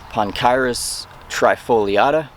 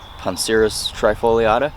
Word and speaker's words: Poncirus trifoliata: poncirus trifoliata you know in traditional Latin the C is usually pronounced hard but uh with you know the modern scientific uses that we use Latin 4 uh sometimes that gets a little muddled sometimes but the trifoliata right